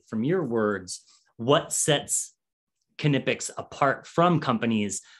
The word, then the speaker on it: Knipex: In fact, we came up with a t-shirt that says how to pronounce the name of the company. Okay. So for us in North America, it's Knipex. Knipex. Yeah, it's Knipex.